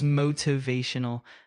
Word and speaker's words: motivational: In the second syllable, I can say a flap T. Motivational. Exactly. Using a flap T for that middle sound in motivational is perfectly natural in American English.